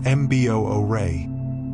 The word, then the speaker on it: bure: The Bu pronounced Mboay is a masterpiece of practical design.